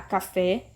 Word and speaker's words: café: Então, ao separar as sílabas da palavra café, eu tenho 2 sílabas. Café. Essa que está de vermelho, destacada, é a sílaba tônica. É a que é pronunciada com mais força e é acentuada.